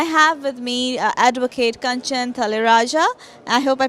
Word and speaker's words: Talreja: Okay, you got the pronunciation almost right. It's it's Talreja.